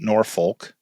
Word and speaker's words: Norfolk: You have a day off after Asheville, and you go to Norfolk. Oh. Not Norfolk. Norfolk, Virginia. Oh.